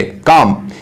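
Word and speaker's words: calm: काम यहां पर जो एल है ये साइलेंट है, इसका मतलब होता है खामोश या पुरसकून।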